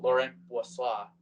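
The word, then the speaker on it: Laurent Brossoit: the whole season losing Lauren Boise as I like to say and that's how his name is pronounced by the way a little French right there he's injured to start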